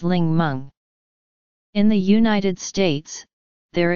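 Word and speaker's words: 檸檬: For example, the Mandarin word Ningmen, meaning lemon, came from Cantonese, in which the characters are pronounced as Ling Meng.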